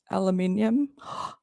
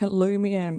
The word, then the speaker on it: aluminium: Aluminium. There we go. But you say it like aluminum or something.